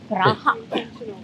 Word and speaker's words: Praha: Praha, the Jewish quarter.